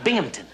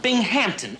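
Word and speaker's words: Binghamton: Bingmpington? Bingon? No. No, no. Bing Hampton. Accent on the ham.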